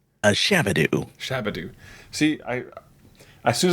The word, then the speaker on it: Shabadoo: A shabadoo.